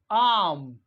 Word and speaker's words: arm: इसी तरह से ARM आर्म, आर्म। यानी ये जो आर है ये हम प्रोनाउंस नहीं कर रहे हैं, ARM आर्म।